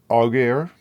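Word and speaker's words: Aguirre: Oh, Forest, I'm going to get your name wrong. Agar. A gu I r e you say it to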